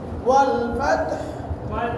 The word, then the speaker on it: والفتح: এমন অবস্থায় এই দুটার উচ্চারণ স্পষ্ট হবে, এই শেষের হরফের উচ্চারণটা অস্পষ্ট, হালকা শোনা যাবে, হালকা করে ওয়াল ফাতহ والفتح ওয়াল ফাতহ والفتح হ্যাঁ শেষ হরফটা পুরো উচ্চারণ শেষ হরফটা হালকা উচ্চারণ ওয়াল ফাতহ والفتح ঠিক